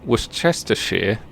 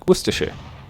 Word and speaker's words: Worcestershire: know i don't know how do you know when it's shire and when it's sure uh generally you say it wrong and somebody will correct you uh like for instance if you say what's this chester shear then um i'm british and i'll correct you to like worcestershire that's a